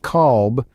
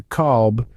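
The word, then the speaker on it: قلب: In some dialects, the Q sound might be replaced with a K sound, leading to qalb, which in Arabic means dog.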